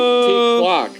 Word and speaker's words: T-Clock: T-Clock. Say T-Clock. Yeah, if they want to find his channel on Twitch, you got to say it right.